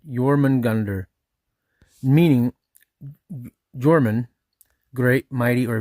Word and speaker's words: Jörmungandr: Pronunciation rough roughly yorman gander.